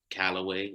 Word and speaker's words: Calloway: that's spelled calloway like call old way and i'm from that